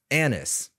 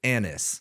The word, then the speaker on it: ANUS: tools and then we have another version called Anis yes that is how you pronounce it Anis same thing execute complex tasks collaborate in multi-agent